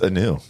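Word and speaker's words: Kanew: it just new canoe is the K silent a new no just new it might be how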